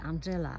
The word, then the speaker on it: Angela: kolejne ciekawa Róża to róża wymawiana zwykle Angela ale ja myślę że tak naprawdę jest to Angela jest to róża niemiecka